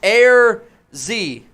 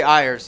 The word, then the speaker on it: Ayers: Ayers says, wear the boot, and last name is pronounced Air Z. I always say Ayers.